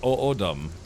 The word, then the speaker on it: Odom: Odom. It's actual Native American tribe. Oh, really? So, it's pronounced Odum.